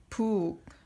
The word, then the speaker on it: 북: 북. 북 is drum. Drum in Korean is 북. 북. We say this is 북.